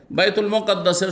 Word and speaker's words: বাইতুল মুকাদ্দাস: ফাজাল্লাল্লাহু লি বাইতুল মাকদেসে, বাইতুল মাকদেসও পড়তে পারেন, মুকাদ্দাসও পড়তে পারেন। জি জি, মুকাদ্দেস নয় শুধু, বাইতুল মুকাদ্দেস নয়, বাইতুল মুকাদ্দাস, হ্যাঁ পবিত্র, অথবা বাইতুল মাকদেস, এই দুটো উচ্চারণ ঠিক।